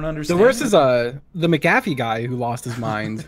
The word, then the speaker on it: McAfee: MC name you call it McNabb a mc mc a caffee but it's it's pronounced McAfee and that's just like put the put an